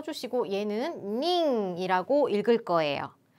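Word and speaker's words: 人: 인자를 써 주시고 얘는 링이라고 읽을 거예요 숫자에 붙은 사람 인자는 히토라 읽지 않고 닝이라고 읽습니다 몇 명에 해당하는 는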